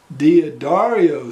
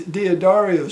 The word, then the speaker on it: D'Addario: keep their tuning quickly this ukulele has dia dario strings that's how i pronounce it i'm not from italy so that's the way i do it it's got these d'addario strings and that uh